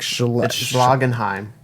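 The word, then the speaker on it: Schlagenheim: you pronounced it horrible how did I say I said schlagg and how he said SH like I said and though I said it like Shh loggin Heim sloggin Haim Hagen so it's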